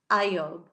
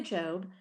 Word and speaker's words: Job: And it it's actually pronounced Iob, but we say Job.